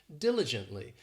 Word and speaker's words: diligently: next we have diligently this adverb has four syllables and the stress is on that first syllable diligently and it just means